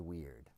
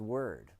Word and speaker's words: Wyrd: And these workshops I'm calling Wizards Weird. It can also be pronounced wizard's word because what word means w y d is destiny.